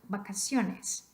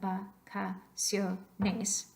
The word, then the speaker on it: vacaciones: So we've got vacaciones. Vacaciones. Where do you hear that extra oomph, that extra emphasis? Vacaciones. You hear it on the second to last syllable.